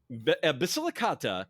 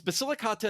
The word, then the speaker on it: Basilicata: If if Italy is a boot, it's not Basilica. It's Basilicata and Compana.